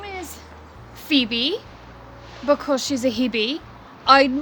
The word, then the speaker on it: Hebe: So I say it Hebe, and Phoebe rhymes with Hebe, so her name's Phoebe.